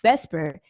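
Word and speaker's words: VSEPR: at the separ visit the separ which is pronounced Vesper it's valence shell electron pair repulsion Theory what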